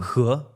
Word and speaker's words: He: What's the correct pronunciation? He.